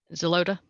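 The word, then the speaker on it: Xeloda: she's on exolida x-e-l-o-d-a how do i pronounce that one zelota zelota okay sorry see a lot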